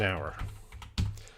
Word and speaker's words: hour: of course in english in this word the h is silent we don't say the h so this word an